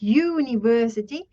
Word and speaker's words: university: this one's pronounced as university this one is pronounced as umbrella so this one sounded more like a y right u y u this